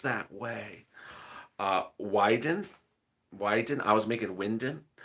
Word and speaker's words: Wyden: now let's turn to that deliciousness of ron winden someone in the comments to me said something like it's not pronounced that way uh wyden wyden i was making winden why why didn't